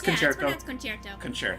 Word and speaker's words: Concerto: of pixie dust but tail concerto is that how it's actually pronounced that's yeah it's concerto okay tell concern oh but concerto okay oh I'll remember that